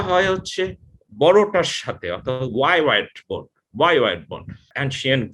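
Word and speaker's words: hyoid: সো ছোট উপসিলন যেটা আছে ইউর মতো দেখতে, সো এটার নাম হচ্ছে এর মতো, কিন্তু উচ্চারণটা হয় হচ্ছে বড়টার সাথে, অর্থাৎ ওয়াই ওয়াইড বোন, ওয়াই ওয়াইড বোন।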